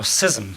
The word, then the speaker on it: schism: the new age of schism or sysm as my colleague sue Peters insist it should be pronounced these remarks are offered